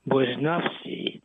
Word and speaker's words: Barnowski: And I'm so pleased that I have the opportunity to have Jen Bnowski, who by the way in Polish should be pronounced Bonavski.